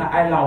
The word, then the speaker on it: island: Island, they say, an island. What happened to the S? Say, because the S is silent.